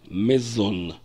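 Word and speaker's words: מְזוֹן: единственном числе amazon сопряжение если это будет первое слово то мы будем произносить его как mizon не зону например хочу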